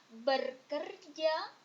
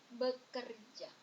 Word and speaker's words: bekerja: R at the end Here it's not ber anymore becomes B bekerja work it's not berkerja but it's bekerja and this one sometimes